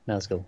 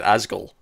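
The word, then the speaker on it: Nazgûl: Did I even say it right? You did, Nazgul. They're the big, the ring wraiths. Well, there was an N at the start. I just said Asgul.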